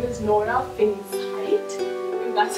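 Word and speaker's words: Nora Fingscheidt: by the first time director her name is nora finns height and that's how you pronounce it um so she was a documentary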